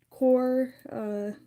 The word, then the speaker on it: QoR: and Newton, and some Core. Core is a good brand. QOR is what it's spelled.